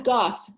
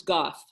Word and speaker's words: Gough: And how do I people say this, oh no, it's Goff. I sometimes pronounce it wrong. It's Goff. Goff? No, I'll have to, it's Gough. It's got an interesting spelling, but it's Mindy Goff.